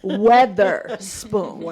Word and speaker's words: Weatherspoon: Not Witherspoon, but Weatherspoon. Okay? Weatherspoon. Pronounce it right. Weatherspoon.